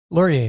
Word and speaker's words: Laurier: And I'm going to mispronounce his name because I'm so excited just to say his name, is Laurier. Did I say that right, Laurier? Laurier, yeah, you got it.